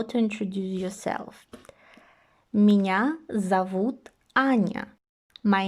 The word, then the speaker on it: зовут: One of the basic things that you have to know when learning Russian is that O is pronounced as O under stress. When it is not stress, we pronounce it as A, and this is actually visible also in our examples here. Зовут. Although we write O, we pronounce it as an A.